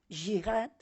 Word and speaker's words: yihad: ha entrado han entrado la palabra yihad escrita con y no es cierto porque es una y o una J que se que se pronuncia j jihad y lo han entrado